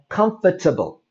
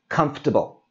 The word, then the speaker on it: comfortable: the word comfort so it's very common to pronounce this as comfortable that's a long word comfortable so we drop out the o and the r that whole sound and this becomes comfortable how can we use